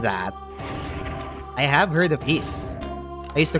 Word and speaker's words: Ys: I've heard of that I have heard of E I used to call it Ys because uh I'm I'm an uncultured bastard only